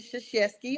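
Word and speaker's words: Krzyzewski: I knew forever and I do know how to pronounce the name sheski okay so for those people you got to know how to say it now I don't know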